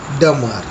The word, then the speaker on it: dumber: This is pronounced as dumber. The B letter here is silent.